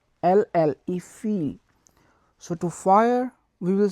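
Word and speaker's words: fille: So to girl we will say feel, F-I-L-L-E, feel.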